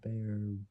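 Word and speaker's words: Baer: Upgraded upgraded uh bear brakes. Upgraded upgraded bear brakes. Spelled B A E R. That is a bit tough to pronounce.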